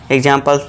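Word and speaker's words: example: वहां पे लास्ट में क्या होता है? इ होता है। तो यहां पे अब क्या होगा दोस्तों? इ जो है साइलेंट होगा। इसे हम प्रोनंसिएशन नहीं देते हैं। आवाज नहीं निकालते हैं। तो यहां इ क्या है? साइलेंट है। इसे हम कुछ नहीं बोलते। ठीक है दोस्तों? तो इसे क्या पढ़ते हैं हम? एग्जांपल।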